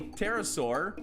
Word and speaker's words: pterosaur: referring to dinosaurs a pterosaur or pterosaur is the the p is silent uh is the name